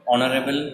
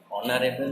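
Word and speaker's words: honourable: এটা হলো না, কিন্তু হনেস্ট হতে পারতো এইচ দিয়ে, কিন্তু হলো না, উচ্চারণটা হচ্ছে অনেস্ট, ওই জন্য অ্যান বসালাম। আরও আছে দেখো অনারেবল ম্যান, অনারেবল মানে হচ্ছে সম্মানীয়, সম্মানীয় মানুষ বা সম্মানীয় ব্যক্তি বলা যেতে পারে।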